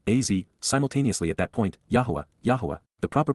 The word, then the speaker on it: Yahowah: at that time AZ simultaneously at that point Yahweh yah the proper pronunciation of the name of eloah God as